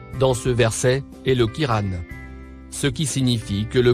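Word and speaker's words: قرآن: Le Kiran, ou Coran, comme on a pris l'habitude de le prononcer, est donc spécifiquement fait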